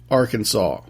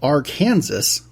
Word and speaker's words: Arkansas: This week we're going to Arkansas, where apparently it is illegal to mispronounce Arkansas. Even though it's spelled Arkansas, it is, check it out.